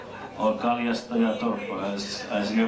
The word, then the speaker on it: Kalastajatorppa: you very well know in Finland, that is Kalastajatorppa, or Kaljastajatorppa as you pronounce it.